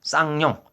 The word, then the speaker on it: 쌍용: 쌍용. 쌍시옷 할 때 우리 그 쌍 알죠? 쌀 할 때 쌀.